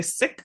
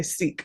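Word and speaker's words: Sikh: never some people say sick and some people say Seek but SI i k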